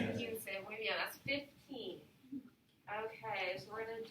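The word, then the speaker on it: quince: it's actually kinsey so it's not one of the math problems so it's a little bit of a trickier one and it's harder to pronounce too with the q so it's kinsey okay so we're going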